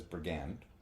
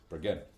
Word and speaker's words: Brigid: It has been pronounced as Brigand. Okay. With an N. That is incorrect. That is whitebread Uh but it is Brigid.